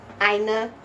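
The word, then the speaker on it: Ainur: I know that A-I is pronounced I, so Einar.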